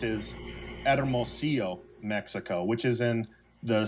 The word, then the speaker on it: Hermosillo: But the way that it's pronounced is Hermosillo, Mexico, which is in the state of Sonora, which is right below Arizona, below Arizona.